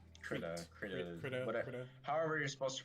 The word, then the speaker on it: Krita: Krita. However you're supposed to pronounce.